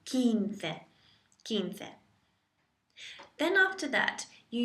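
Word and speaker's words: quince: 15 to get 15 if you think of keen at 15 se 15 just think of the memory aid of someone being keen at 15 kin se quinte then after that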